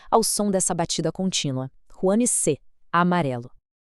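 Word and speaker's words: 黄色: Huanse, amarelo. A pronúncia pede o uso do segundo tom, aquele som ascendente que eleva a voz.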